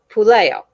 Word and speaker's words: Puleo: italian last names yes all you have to do is throw your hand up so puleo try it that part is pool i told you it